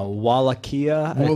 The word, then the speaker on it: Wallachia: Wallachia. Wallachia. I was like, I don't know. I said Wichita. It's spelled Wallachia.